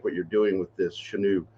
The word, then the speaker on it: Chenoo: And that's why I really like what you're doing with this Chenoo. Is it Chenoo? Am I saying it right? You're saying it right. Chenoo.